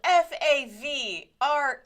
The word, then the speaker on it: Favre: It's spelled Favre. Oh, that's what we're talking about? But you say Favre, which, by the way, is one of the goofiest things you could possibly say. It's Favre.